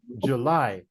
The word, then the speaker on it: July: the middle remember remember number three July July you Jun July July it's in the second July July it's in the second syllable number four February February